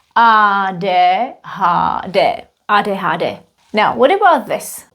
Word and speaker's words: ADHD: We read it in Czech. Ah de ha de.